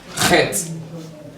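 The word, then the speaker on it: ח: So the next one is what we call Het. Call it Het. Het. Het. Het. So when you pronounce this, you pronounce it using your throat.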